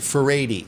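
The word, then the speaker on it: Furedi: Faradi. That's how you pronounce it.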